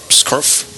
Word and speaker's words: Skrf: How can we actually pronounce his name? Scriff. I mean, you're still saying an A. How? You can't say an SKRF in a row.